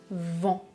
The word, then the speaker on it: vent: Je prononce vent, vent, avec un en comme dans enfant. La mâchoire est relâchée, elle tombe un peu vers le bas.